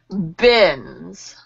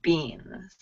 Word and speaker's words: bins: Bins. Bins. Good, good. Great use of the short I, everyone. Good use of short I. It's bins, not beans, right?